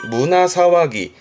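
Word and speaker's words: 胸騒ぎ: 그런데 발음이 문화사와기. 조심할 건 문해가 아니라 문화로 가요.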